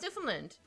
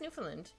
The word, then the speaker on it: Newfoundland: Newfoundland? No, it's Newfoundland. I know I'm saying it really fast, but it's Newfoundland. Yeah, I'm gonna erase it a little bit right here.